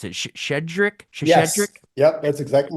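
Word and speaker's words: Щедрик: I don't even know how you pronounce it. Shedrik, Yes.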